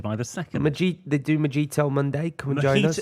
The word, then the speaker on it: Mojito: They do Mojito Monday. Come and join us. Mojito.